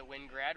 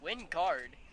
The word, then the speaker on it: Wingard: Here's one that misses high to Wingrad, runs at 1-0. Wingard. Apologies, I think I've been saying it wrong since June 7th.